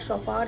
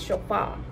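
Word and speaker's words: Chopard: A lot of people say Chauffard but it's not Chauffard or Chauffard, it's Chauffard. The D is silent and this is really nice.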